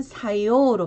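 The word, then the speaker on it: 作用: 작품일 때는 사쿠힝으로 발음을 해주시고 제작일 때도 세이 사쿠, 작용일 때는 사요로 발음을 합니다.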